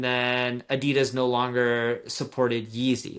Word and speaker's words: Yeezy: Yeezy?